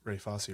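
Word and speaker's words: Fosse: online because I was making sure that I got the pronunciation of Ray fosy right uh but if you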